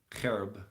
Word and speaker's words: cherub: of Israel was gone up from the cherub cherub actually as how you say it whereupon he